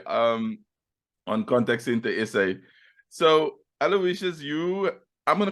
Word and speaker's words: Aloysius: John's, and there I was taught the proper pronunciation, which is Aloysius, and not Aloysius or Aloysius.